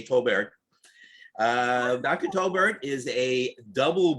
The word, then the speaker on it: Tolbert: As far as I know, it's Tolbert. Okay. All right. Some pronounce the T and some do not. So we'll say Tolbert.